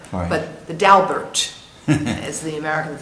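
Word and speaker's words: Daubert: and pronounced Bert okay the French would be doar but the dalbert as the Americans say the dalbert decision the dalbert decision um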